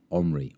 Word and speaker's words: Henry: got a special guest, Michael Omri, or Michael Henry. Yes, depending on how you say it. Yeah, depending on whether you're French.